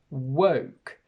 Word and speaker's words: woke: But in English, these each have a completely different sound. We have woke, we have walk, work, and wok.